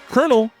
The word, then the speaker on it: colonel: Colonel has that weird pronunciation because it comes from the Italian word colonel, meaning column of soldiers. But English speakers messed up the pronunciation over time and here we are.